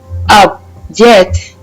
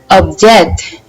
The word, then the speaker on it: object: As I pronounced object, I am stressing it in the first syllable.